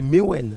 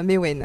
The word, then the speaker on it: Mewen: On va dire bonjour à notre invité, c'est Mewen. Mewen, c'est ça. J'ai bien prononcé. Bonjour, oui, Mewen. J'ai bien dit. Exactement, c'est ça, Mewen.